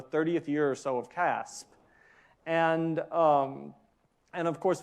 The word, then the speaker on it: CASP: protein structure prediction where the P got lost in the acronym and is pronounced Casp and uh and the